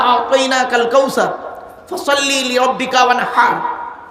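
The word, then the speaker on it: وانحر: ইন্না আতাইনা সূরা আমরা পড়ি, ইন্না আতাইনা কাল কাউসার ফাসাল্লি লিরাব্বিকা ওয়ানহার। হায় হুটি, এই গলার ভেতর থেকে হে এটা উচ্চারণ করবেন।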